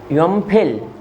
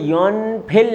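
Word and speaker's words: 염필: दूँ योनफिल, योनफिल, योनफिल, योमफिल। कोरियन ज़बान में योनफिल नहीं कहेंगे, योमफिल। एन नियन जो है वो साइलेंट कर लेते हैं, ये बात याद रखिएगा। योमफिल जुस्सेयो, जुस्सेयो कहते हैं दे दीजिए, योमफिल जुस्सेयो।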